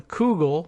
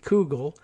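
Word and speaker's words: Coogle: The case is incredibly significant, said Adam Kugel, not Google, but with a C, Kugel, a Human Rights Watch researcher who just published a study on Saudi Arabia's targeting of dissidents.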